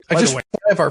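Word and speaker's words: ajvar: Ivar for the spread. Ivar is spelled A J V A R. Okay. Because remember in Latin J is a Y sound.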